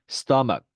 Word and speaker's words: stomach: 그리고 끝소리에 가는 경우에는 크 발음이 나는 경우가 많습니다. stomach, ache 이렇게 되는 거죠.